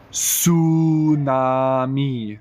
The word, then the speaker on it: tsunami: which is a debt all right last one TS u n a m i TS u n a m i what's this